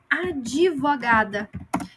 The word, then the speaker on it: advogada: ela é o qu advogada Então esse D aqui é como se tivesse uma I invisível Então a gente vai dizer AD vogada ou advogado certo mas ela é muda